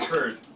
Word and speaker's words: herd: Okay, heard 들었어요, right? Heard. But H-E-R-D, and then 야생말, buffalo, okay, or rhinoceros. 아니죠. 그 절자 아니죠. 발음. Yeah, 발음, that's what I wanted to say. 발음이 똑같아요. Heard.